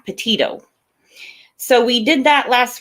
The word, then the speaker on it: Petito: I've been saying it wrong, and I had a bunch of comments. Say her name right. Well, I didn't know her, so I'm, correcting it now. Petito.